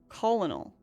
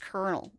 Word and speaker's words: colonel: Camp colonal. Colin. Seems like stuff I'd want to pick up here, but oh well. It's pronounced colonel.